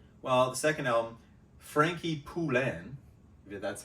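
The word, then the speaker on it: Poullain: much drugs or well the second album Frankie pulen that's how you say it the bass player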